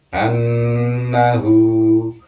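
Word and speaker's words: أَنَّهُ: Annahu, cara bacanya begitu, tidak boleh annahu. Gunnah itu berdengung. Annahu, jadi ada agak-agak ditahan gitu.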